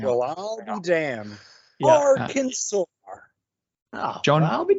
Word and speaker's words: Arkansas: Arkansas. You don't say it properly. It's Arkansas. Arkansas.